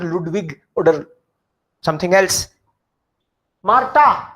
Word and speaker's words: Marta: Marta, why ta? Why not tha? Because H in the middle is silent and A is always A, A is A, and double A is also A. So this is Ma, Marta, not tha.